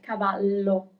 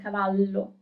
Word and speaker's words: cavallo: And here you can also see like the double L, cavallo. It's kind of a longer sound, cavallo.